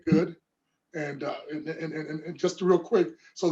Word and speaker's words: Goode: I said, "Goody?" And I said, "Well, the E is silent."